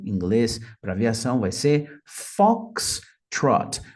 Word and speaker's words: Foxtrot: para aviação vai ser Fox Trot percebam que a pronúncia né Tem duas sílabas e a primeira é a mais forte Fox Trot Fox Trot Fox Trot